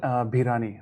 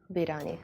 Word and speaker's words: Bhirani: How do I pronounce your last name? Bhirani, Bhirani. Bhirani.